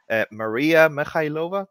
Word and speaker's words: Mariia Mykhailova: Today, I am joined by a person that I really, really admire, an amazing, intelligent principal engineer at Microsoft, Mariia Mykhailova.